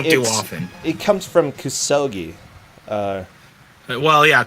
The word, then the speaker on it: kusoge: It comes from kusogi. Well, yeah, kusoge, or just kuso. Yeah, so yeah, you put the emphasis on the second syllable.